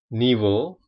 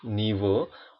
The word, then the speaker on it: niveau: Untuk huruf A dan U, E, A, U, dan huruf O, ini semua dibaca O. Oke. Sekali lagi, A dan U, E, A, U, atau O, itu semua bacanya sama, dibunyikan dengan O.